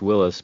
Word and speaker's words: Willys: They were the Willys Willys and some people say it's pronounced Willis, but to me it looks like Willys.